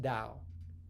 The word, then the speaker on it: Tao: AO would be pronounced too and Tao is pronounced da in contrast in the pinin system Dao is